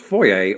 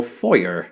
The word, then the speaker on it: foyer: recent secret stream are divided on whether this should be pronounced foyer or foyer either way americans will